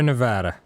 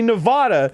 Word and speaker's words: Nevada: How to pronounce Sierra Nevada?